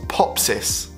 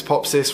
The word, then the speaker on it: Popsys: say my name properly Pops's is how you say it pop cyst I've done if you've seen Sara deechi on YouTube but she has this thing where she's like hi I'm Sara DG rhymes with peachy so yeah maybe I need to be like Carly I'm pops this rhymes with pop sister do you get nervous